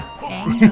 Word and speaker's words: Aang: it Aang or Ong, or how do you say Aang. It? Aang. Okay. You will learn that, and you'll see why they say it all the time, and you'll understand why them pronouncing Ong for the live action movie drove people insane.